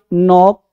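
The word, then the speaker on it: knock: Knife नॉक नॉट नो। ठीक है? कनो नहीं क नॉट नहीं कनोक नहीं।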